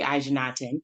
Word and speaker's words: Ajanatan: I'm Reverend Ajanatan. That's how you say it.